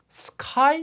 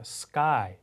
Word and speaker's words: sky: 자 그래서 하늘을 보세요 자 하늘을 뭐라 그럴까요 스카이 이렇게 하지 않죠 원어민의 발음을 들렸던 걸 자 상기해 보시면 스라고 합니다 그죠 sky 그죠 예 그다음에 학생도 student 이렇게 강하게 하지